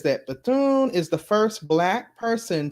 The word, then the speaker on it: Bethune: thoughts it says that bethune is the first black person to have state commission statue in the u.s capitol statuary hall replacing a statue of a confederate general the h is pronounced silent i thought so cause